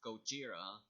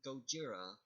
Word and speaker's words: Gojira: be noted again his original japanese name is Gojira but did you know that the word is